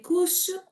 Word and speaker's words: course: C'est pas couche, c'est course. Course. Couche. Le couche au marché. C'est comme S. C'est ça. C'est ce son.